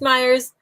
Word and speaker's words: Mayers: years no you guys see it right it's Myers you're one of the few people who actually